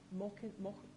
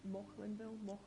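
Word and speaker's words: Maukinhill: Can I add Mockinhill in Greenock, which has come to mind? Sorry, say that again. Mockinhill in Greenock. Mocklinville? Mockinhill. Mockinhill. M-A-U-K-I-N. Greenock names. Spell it for me.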